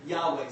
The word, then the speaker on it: Yahweh: The best way that I have seen that we can pronounce that is Yahweh. Some people say Jehovah. I think Yahweh is probably, or Yahweh is a little bit better pronunciation.